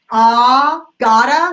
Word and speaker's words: gotta: And when you say honest, gotta, like I was saying earlier, gotta go, you can absolutely imagine that it's spelled G-A-H-T-A. Gotta. Not N-A-H-T.